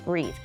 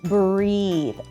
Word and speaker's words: breathe: I can hardly breathe here is a hint on how to pronounce the word breathe you'll see an e at the end this also lets us know that this is the verb to breathe then we want to make that e e sound I can